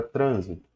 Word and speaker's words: trânsito: exemplo a classe gramatical você tem a palavra trânsito a palavra trânsito Se você retirar o assento ela vira transito e trânsito é substantivo trânsito é verbo Ok então toma cuidado porque às vezes a retirada do assento ó trânsito é substantivo e transito é verbo a retirada do assento